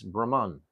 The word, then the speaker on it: Brahma: differentiate between Lord Brahma Lord Brahma is has a long a I explained this the